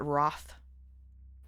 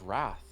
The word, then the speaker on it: wrath: What do you think about people who pronounce it Roth? I hate it. I know. I've heard you say that. It sounds like froth. It's wrath.